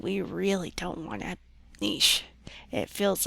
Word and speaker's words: niche: rich with a niche i prefer to pronounce it the french way which is niche um and if you